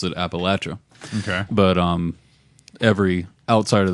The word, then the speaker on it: Appalachia: the natives there have always and still do pronounce it Appalachia okay but um every outsider that comes in mmm pronounces it Appalachia because they're idiots and it's the quickest way